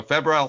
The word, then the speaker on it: febrile: seizure Johnny is that the right way to pronounce it Fe Feb yeah that's right okay so febal seizure and he explains to me what that